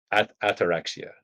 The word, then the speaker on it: ataraxia: which in Greek, and please correct me if I mispronounce, is ataraxia. That's correct? So That's ataraxia correct.